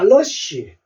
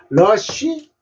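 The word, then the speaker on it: rush: 러쉬 아라 합니다 자 러쉬 러어 소리 났다는 얘기입니다 그죠 러쉬러 SH 쉬 소리로 읽으시면 돼요 러쉬 아인데요 h 소리가 무음입니다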